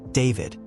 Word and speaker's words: D4vd: A shy kid, David found solace in Fortnite, streaming montages on YouTube under the name D4vd, pronounced David, a moniker he chose for its simplicity.